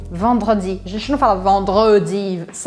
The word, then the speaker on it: vendredi: Ou este E aqui, vendredi, vendredi.